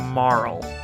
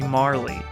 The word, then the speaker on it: Marle: where it gets crazy I always always always always always pronounce her name Morrel okay just like a weird name doesn't really make much sense I think it's supposed to be Marley I don't care I've